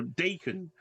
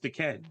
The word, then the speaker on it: Den: who I would have used to call Dan, but I've been told is actually pronounced Den.